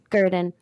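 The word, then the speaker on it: Gruden: Gurdon.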